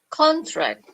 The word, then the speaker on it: contract: Now this word, if you want to use it as noun, how do you pronounce it? Contract.